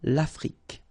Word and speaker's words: l'Afrique: Same thing here. Final it's only the k at the end that you will hear. L'Afrique. Okay?